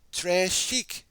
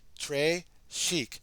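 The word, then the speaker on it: très chic: it like a bracelet Tre shik you say it like this Tre shik it means very fancy and the gravy is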